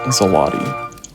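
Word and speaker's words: złoty: The Zloty, I think. it is. There's no way I Zloty. pronounced that. There's zero way chance I pronounced that right. It is the Zloty, according to the internet.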